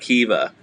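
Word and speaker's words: Caoimhe: do you pronounce that i think it's like kiva because i feel like the m is always like a v sometimes like a v there we go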